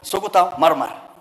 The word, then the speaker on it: Suguta Marmar: You know, you have difficulties in pronouncing these things, but for us for us pastoralists, we know how to pronounce. It's called Suguta Marmar.